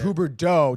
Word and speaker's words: Huberdeau: Are you shocked by the Huber Dow call by Tommy? Yeah, what did he say? He was comparing it to some other names. It's pronounced Huberdeau, just like Marleau.